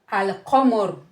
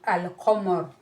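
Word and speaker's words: القمر: Unlike the moon letters, when you have al-qamar, qa is a moon letter. So when it's preceded with alif lam, you still need to pronounce the alif lam. It can be al-qamar.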